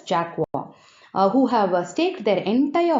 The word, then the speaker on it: Jacques: CN and Jacques, Jacquees, should be pronounced as Jacques, who have staked their entire holiday savings on their bet.